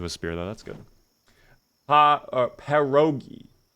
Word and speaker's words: pierogies: It's pronounced pierogies. Well... Pierogies, team. Joji says it, so it is.